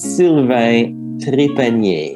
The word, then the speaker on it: Sylvain: so look him up uh still can you pronounce your first and last name i don't want to say so it's sylvainy so it's s-y-l-v-a-i-n very good i've said it